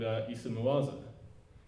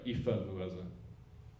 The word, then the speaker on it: Ifa Mwaza: about a guy called Issa Mwaza. Sorry, Ifa Mwaza, even though The Guardian gets his name wrong.